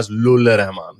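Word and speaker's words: Fazl-ur-Rehman: यही है, मैं उर्दू में वैसे ही प्रोनाउंस करते हैं, फजलुल रहमान, जैसे खलीलुल रहमान नहीं है उसी तरह।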